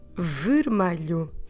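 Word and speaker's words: vermelho: about the color red the word for red in portuguese is the word vermilion it's quite a long one i'm afraid i will have to spell it for you to help you understand the words so i'll say it once again three syllables and the spelling is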